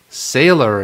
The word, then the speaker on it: Saylor: Saylor, and I think that's how you pronounce it. Yeah, Saylor.